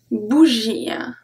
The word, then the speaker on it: bougie: So if the word ends with IE, we only pronounce I. Let's see. Une bougie. Une bougie.